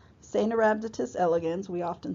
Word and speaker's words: Caenorhabditis: C is pronounced Caenorhabditis elegans. The C is soft, so you say a Caenorhabditis, not Caenorhabditis. Caenorhabditis elegans, we often say C.